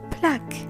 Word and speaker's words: plaque: Same thing happens with the letter Q. If it's followed by U and E, the U becomes silent and the whole combination Q-U-E turns into a K sound like in technique and plaque.